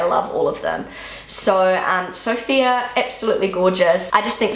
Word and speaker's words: Sophia: And so in Germany they pronounce it more like Sophia. Sophia. But it's still similar. Sophia, Sophia. It sounds very similar.